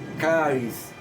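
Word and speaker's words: χάρις: Charis. Essa é a pronúncia no grego, charis.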